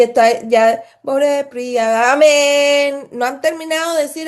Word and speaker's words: amén: Y lo único que pronuncian es la nun, que lo estiran. O lo que pronuncian y estiran es la nun, la n. Cuando debería ser la última sílaba, que es la en.